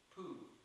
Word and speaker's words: Pooh: Pooh, by the way, is pronounced sort of like poo, but not so much. But without so much ooh. Like the sound you make when you're blowing a fly off your arm on a hot summer's day.